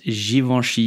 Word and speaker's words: Givenchy: givenchies mosticonic design infact it Goody said that Givenchy is to blame for the little black dress